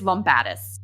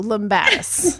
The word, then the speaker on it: Lumbatis: It's Lombatus. Okay. See, I was so close. I said Lombatus. So, Lombatus.